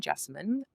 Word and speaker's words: Jessine: myself and that is my name Jessine rhymes with specimen but with a J.